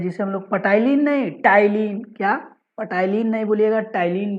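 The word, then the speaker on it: ptyalin: टाइलिन भी बोलते हैं, पर टाइलिन नहीं बोलिएगा, इसे हम लोग प्रोनाउंसिएशन करते हैं टाइलिन।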